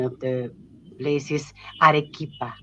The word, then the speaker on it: Arequipa: Um, well, the pronunciation of the place is Arequipa, Arequipa, Peru.